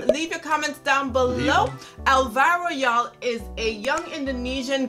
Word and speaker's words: Alvaro: Yes, Alvaro.